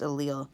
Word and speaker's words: allele: But each of these letters by themselves is the allele, and it's pronounced allele.